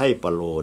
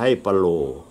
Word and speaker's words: ปะโหล่: โหล นี่ มี ซื้อ ที่ ถูก ต้อง เป็น ภาษา ภูไท ออก เสียง ว่า ว่า โล่ มี ความ หมาย ว่า